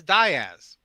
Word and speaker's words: Diaz: up uh Matt Diaz apparently his family pronounces it as Daz.